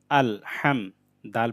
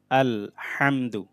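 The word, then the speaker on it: ٱلْحَمْدُ: হাম, দাল পেশ দু, আল হামদু। লাম লাম জের লিল, লাম খাড়া জবর লা, লিল্লা, হাজের হি, লিল্লাহি। আলহামদু, এটা হাটা গলার মধ্যভাগ থেকে উচ্চারণ হবে, মানে ভিতর থেকে ভালোভাবে আনতে হবে।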